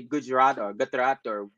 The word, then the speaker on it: Gujarat: because I don't say Gujarat or Gujarat or I don't say it properly. You got it right there, Gujarat.